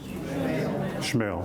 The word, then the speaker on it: Schmale: Schmale, thank you. Want to make sure we pronounce that right.